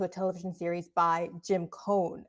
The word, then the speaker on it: Coane: television series by Jim Cohn. I hope that's how you pronounce the last name. It's Coane.